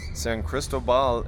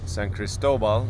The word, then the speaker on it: San Cristóbal: San Cristobal is San Cristobal. Sorry, I put the accent in the wrong put the wrong emphasis on the wrong syllabyl there.